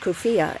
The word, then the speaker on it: keffiyeh: The keffiyeh, pronounced kufiya in formal Arabic, has long been a symbol of Palestinian nationalism.